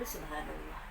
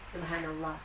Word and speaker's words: subhanallah: Nah, ini Bu Guru sudah tulis ya, subhanallah. Jadi anak-anak mengucapkannya juga harus benar pelafalannya. Jadi bukan subhanallah, tetapi haknya harus besar ya.